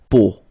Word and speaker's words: peau: it's, but then, so the sound that you will have to pronounce when you've got these three vowels combined together, it's the sound O.